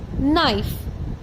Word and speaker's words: knife: for the word knife k is silent so we say it as knife will you repeat after